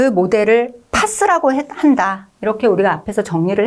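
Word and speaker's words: PaaS: 그 다음 아래쪽은 파스라고 읽겠습니다.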